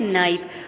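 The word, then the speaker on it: knife: नाइफ, लेकिन हम के प्रोनाउंस नहीं करेंगे, हम नाइफ प्रोनाउंस करेंगे। Okay students, the correct pronunciation is नाइफ।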